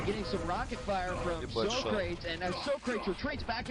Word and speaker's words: Socrates: And yes, ladies and gentlemen, it is Socrates. So stop correcting me. I got the man on the mic today and said, I want to hear how you pronounce it. And he's like, yo man, it's Socrates.